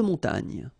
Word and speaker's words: montagne: So remember here, O-N, on, mon, ta, and then this G-N-E, ny.